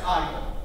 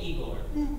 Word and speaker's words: Igor: It's pronounced Igor. Well, they told me Igor. Well, they were wrong then, weren't they?